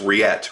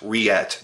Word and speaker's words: Reate: it he's like no you were right its react react that's that's that's how you pronounce it so from here on out rillette